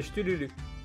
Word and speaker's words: Cthulhu: Ça se prononce pas Cthulhu, non. C'est Chtululu.